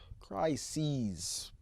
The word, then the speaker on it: crises: Crises. That's the way it's spelled. C-R-I-S-E-S.